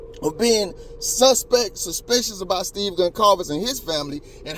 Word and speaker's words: Goncalves: She said his name is wrong as I be saying it. She said Gonzalez or something like that.